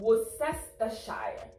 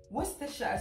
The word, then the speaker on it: Worcestershire: If you break it down, it looks like it's Worcestershire. Yeah. But apparently, the UK people said it's Worcestershire sauce because they made it originates from them, right?